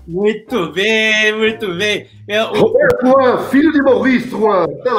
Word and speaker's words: Drouhin: Como é que se pronuncia o nome da família? É Drouhin.